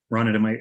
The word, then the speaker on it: Ronit: Ronit, am I pronouncing that right now? Yeah, it's Ronit.